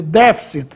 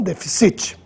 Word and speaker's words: déficit: sem assento só que a leitura é déficit e não deficit já a forma subjudice